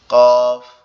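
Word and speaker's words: كاف: এর উচ্চারণ হচ্ছে জিহ্বার গোড়া থেকে আরেকটু সামনের দিকে যাবে। আগায় যাবে। গিয়ে ওখান থেকে তালুর সঙ্গে লাগবে। লেগে উচ্চারিত হবে।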